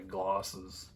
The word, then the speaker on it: Glosses: That's the correct pronunciation of his name, by the way, Glosses.